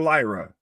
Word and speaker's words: Lyra: Lyra's got, Bailey fights out of the powerbomb spot. Roll through kind of buckle bomb there from Bailey onto Lyra. And yeah. Now, is it Lyra or Lyra? Lyra.